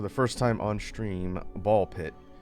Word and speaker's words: Ball x Pit: first time on stream Ball Pit written as ball X pit, but I'm pretty sure the X is silent.